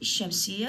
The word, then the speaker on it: الشمس: ورا اللام حرف، مثل عندي الشمس، الشمس، ما علي بالألف، الشين اللفظة الشمس، إذا جت وراها شين اللام تلفظ؟ لا، اللام ما تلفظ، ايش قلت؟